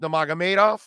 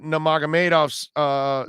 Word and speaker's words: Nurmagomedov: Nurmagomedov, I believe is how it's pronounced.